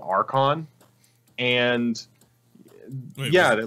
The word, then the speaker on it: Archon: Louis and there was always this one like really big like tabletop gaming convention called Archon and yeah they're like awesome or claude no RCC Ewan no yeah Archon like a RC h Oh N okay cuz